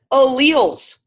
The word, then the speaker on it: allele: they representing people up yes Marissa nailed it alleles they represent alleles right that's how you say